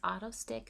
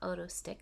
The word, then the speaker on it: Otostick: It's pronounced Otostick, not Otostick, so I did mispronounce it in the original video that I recorded.